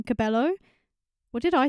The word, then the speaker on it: Cabello: I think I said her name wrong. Cabello? What did I say? Yeah, I Love It by Camila Cabello.